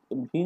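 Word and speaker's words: Wien: 1893-তে বিজ্ঞানী ভিন, কোনো ওয়াই না বলে অনেকে, এটা একটু উচ্চারণটা ভিন মানে ম্যাক্সিমাম ক্ষেত্রে ভিন বলে।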